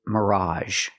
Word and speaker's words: mirage: The next word is mirage. Mirage. Again, we have the a ge making the a sound.